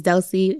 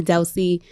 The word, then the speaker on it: Delsy: So my name is Delsy. Instagram, call me Delsy. I did that because a lot of people just get my name wrong. It's so simple. It's 2 syllables, but they still get it wrong.